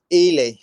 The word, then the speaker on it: Ely: Is it pronounced Eli? Ely, Ely.